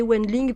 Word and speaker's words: Wendling: c'est Wendling, le W se prononce comme un V.